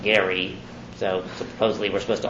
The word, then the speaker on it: Gerry: named after Elbridge Gerry name was actually pronounced Gary so supposedly we're supposed